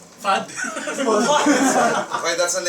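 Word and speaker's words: Fuud: you so let's Planet food but it's spelled f u u d fud okay that's the name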